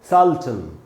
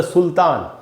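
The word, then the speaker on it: sultan: उन्होंने इसको क्या पढ़ा, अंग्रेजी में इसका उच्चारण क्या होता है इंग्लिश में, वो होता है दोस्तों सल्टन। सल्टन, तो आप बोलेंगे ही इज़ अ सल्टन, न कि ही इज़ अ सुल्तान।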